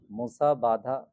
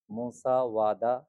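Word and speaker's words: musāvādā: মিথ্যা সারা চতুর্থ লাইন মুসা বাধা মুসা বাধা আছে এটা কিন্তু মুসা বাধা হবে না এই যে ব থেকে ও মুসা ওয়াদা মুসা ওয়াদা মুসা ওয়াদা তারপরে লিখেছে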